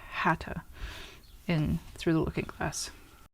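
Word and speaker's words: Haigha: in the other so instead of hat or it's hata in through the looking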